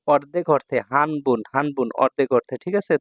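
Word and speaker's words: 半: কাঞ্জি এগুলো হ্যা এগুলো পরীক্ষায় থাকে এটা হচ্ছে হান হান অর্থ হচ্ছে অর্ধেক হানের কাঞ্জি হ্যা হান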